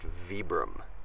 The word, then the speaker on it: Vibram: It's pronounced Vibram.